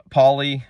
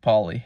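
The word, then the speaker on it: Pali: just flat out esoteric if you can read pully I almost no one I don't even know if anyone can speak poly really these days but um by the way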